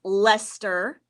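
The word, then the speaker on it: Leicester: blueface lester sheep so blueface lester but it's pronounced lester i know that looks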